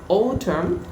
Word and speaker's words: autumn: অটাম। অটাম। নট অটাম, ইটস অটাম। অটাম। অটাম। ট এবং ঠ এর মাঝখানে উচ্চারণ, কেমন? অটাম।